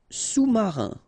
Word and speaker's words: sous-marin: Sous-marin, okay, so E-N here, un, rein, marin, all right, and remember, sous, okay, final S not pronounced, so S-O-U, sous, sous-marin.